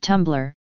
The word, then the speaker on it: Tumblr: tumblr stylized as tumblr and pronounced tumblr is a micro blogging